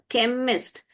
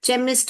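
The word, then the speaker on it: chemist: तो तो यह वाला ही सही दूसरा देखिए ये जो है केमिस्ट क ख केमिस्ट तो ये जो है क हम बोलते हैं हम चेमिस्ट और शेमिस्ट नहीं बोलते तो इसलिए क ये यहां पर चस्ट चेस्ट बोलते हैं।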